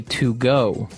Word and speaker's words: Togo: Okay, so it's Togo. That's the way you pronounce it. Because if you look at it, I would say to go. Right, but it's not to go, it's Togo.